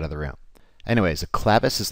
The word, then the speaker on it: clevis: The two main methods of pivot mounting include clevis mounts and trunion mounts. Notice I'm pronouncing the term clevis and not clevis.